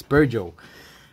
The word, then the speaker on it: Peugeot: The more you know, it's pronounced Peugeot, not Peugeot or Peugeot. It's Peugeot.